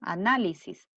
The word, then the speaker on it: análisis: de la sílaba tónica la palabra análisis ante penúltima sílaba análisis la palabra médico igualmente